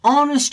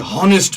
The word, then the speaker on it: honest: now look at this honest man we don't see a honest man we say honest man you can say h is silent here okay because h is silent here it's pronunciation becomes honest man again all is